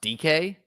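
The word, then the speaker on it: Dike: How is it pronounced? DK?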